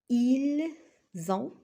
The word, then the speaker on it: ils ont: Parce que ici, on a S et le voyelle O, je prononce Z. Ils ont.